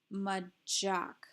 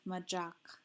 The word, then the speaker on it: macaq: Same with majak. We're voicing the ch sound that the C makes because the C is sandwiched between the two A's.